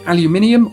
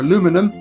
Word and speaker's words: aluminium: This is Sir Humphrey Davyy, the man who isolated aluminium or aluminum or aluminum.